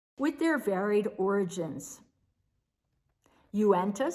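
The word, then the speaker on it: Uintah: the area i was unfamiliar with how to pronounce the city's street names with their varied origins uenta spelled u-i-n-t-a-h native american vermaho spelled m i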